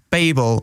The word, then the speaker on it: Babel: that help you out it's pronounced Babel like bagel fact of the day